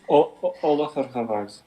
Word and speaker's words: Ólafur: polo for of i can't even pronounce all these things oh hold off is my full name oliver of